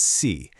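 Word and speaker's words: 시: A great little pneummonic trick to remember this is to think of the English word she, but pronounce it with a slightly softer s sound, C.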